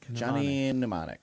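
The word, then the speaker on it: Johnny Mnemonic: Like a pneummonic device. Yeah, but it's spelled M N. I don't know. Just Johnny pneumonic. Johnny. Just say Johnny pneummonic. Johnny pneummonic.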